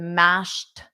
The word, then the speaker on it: mashed: The ED is pronounced as a soft T, the mashed potatoes. But then because I'm connecting it on to the next word, you really don't hear it.